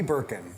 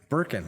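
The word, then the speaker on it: Berken: each other almost four years now uh Birkin Birkin yeah b-e-r-k-e-n it's okay you don't have to spell it just in case yeah you know you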